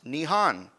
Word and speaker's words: Nihon: Element 113, Nihonium, was discovered in this country, whose name in its language can be pronounced Nihon.